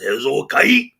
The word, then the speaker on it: Hezokuai: And my original thought in my head for the pronunciation was Hezokai, Hezokai, like that kind of a thing.